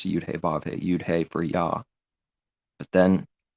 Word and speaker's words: Yah: So then combined with the Y letter, it's Yah. But then the H sound has a dot in it, so it's pronounced.